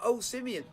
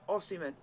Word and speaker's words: Osimhen: Yeah, he calls him O-Simeon. It's a full Barcelona debut for Aubameyang. When his actual pronunciation is Osimhen.